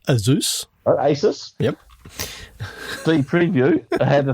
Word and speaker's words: Asus: gone I thought that then I I saw Asis remember you know Asis the computer company it's actually pronounced Aus Asus yep preview I had the thing on Asus